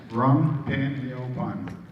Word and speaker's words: Rung Pinyopan: How do you say it? Rung Pinyopan. Rung Pignon Pong. Rung Pinyopan.